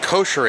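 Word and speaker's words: koshari: to actually try it so this is pronounced kosher it's a Egyptian Cuisine I got the beef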